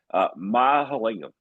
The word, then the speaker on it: Mahalingam: I'm going to pronounce this correctly. I did it once already. Mahalingam.